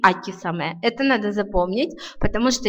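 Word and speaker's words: 秋雨: Но вот как раз в случае со словами «весенний дождь» и «осенний дождь» у него нетрадиционное чтение «саме», «харусаме» и «акисаме».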